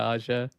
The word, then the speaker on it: Ağca: Ağca. Yeah, at least it's the last name. Yeah, Ağca.